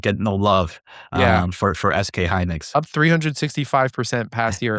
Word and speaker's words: SK Hynix: it's SK Hynix.